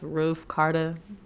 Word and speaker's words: Ricarda: It's pronounced RIcarda. People try to say it like that. 2 A's. Real talk. When you said your name, I was like, I'm gonna call it Carter.